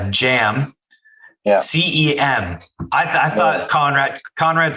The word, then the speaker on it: Cem: So in in Properties, it's Jam. Yeah. CEM. I thought Conrad said it's pronounced Jam. So, and it's a Turkish name.